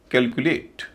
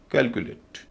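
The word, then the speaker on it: calculate: पर भी स्ट्रेस है बीच का जो हिस्सा है सी यू उसका उच्चारण हल्का होगा छोटा ऊ कैलकुलेट सी ओ एम पी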